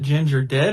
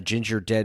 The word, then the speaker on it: Gingerdead: I'm not even POS is it Ginger dead or Ginger death the ginger dead man because it rhymes with gingerbread man got it genius well